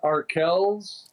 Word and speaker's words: Arkells: with the name of i guess do you pronounce it arkells yes the band yes and i've listened to